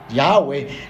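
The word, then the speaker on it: Yahweh: al hombre desde Génesis yahwe no tiene ni acento en el principio en la primera sílaba ni en la última es Sencillamente sin acento dicen los eruditos judíos que cuando usted quiera pronunciarlo de la mejor manera posible lo haga sin ningún acento en ninguna de las dos sílabas yahwe ni yahwe ni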